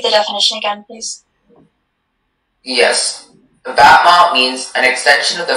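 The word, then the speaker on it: battement: Batman is from French. Batman. Could you repeat the definition again, please? Yes. Batman means an extension of the free foot in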